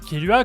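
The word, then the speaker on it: Killua: Et puis son prénom, c'est littéralement le mot tuer en anglais prononcé à la japonaise. Du coup, ça fait Kiru. Et après on rajoute un A derrière pour faire genre c'est un prénom quoi.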